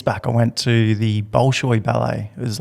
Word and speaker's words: Bolshoi: Bolshoi. Bolshoi, yeah.